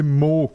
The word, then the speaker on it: Moog: obviously I'm German and There's two ways of pronouncing it. I hear people say Moog, and I said Moog because I watched a documentary and I heard Robert himself say Moog, so I was like, okay, that's the correct pronunciation. It was. Okay, yeah, that's maybe but Moog is valid, and yeah. Okay. Some people prefer this. Some people prefer Moog because it sounds cooler.